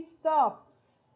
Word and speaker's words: stops: If you have one of these 4 sounds, okay, one of these 4 sounds, the S is pronounced as an S, not as an is, nor as a Z, as an S.